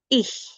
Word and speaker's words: ich: If you see C and H next to each other, then you pronounce it ich. So ICH would be ich.